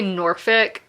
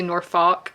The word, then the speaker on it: Norfolk: Roads area of Virginia, so we say Norfick, but on the audiobook they say Norfolk, and that's when you know somebody is not from there.